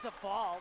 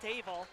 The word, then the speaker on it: Davel: And a nice little tip there by Davel, not Duvall, Davel, just like it's spelled.